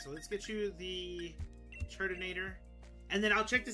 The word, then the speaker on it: Turtonator: By shifting the emphasis, Turtonator sounds like Turt in a Tor, or Turt in a container.